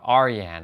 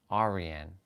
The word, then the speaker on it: Arian: of our other brothers his name was Arian but I was saying uh Aran I'm like that's not how you say his name and he's like he's like he did the same thing he's like R like re like n I'm like Arian Arian Arian okay yeah so it's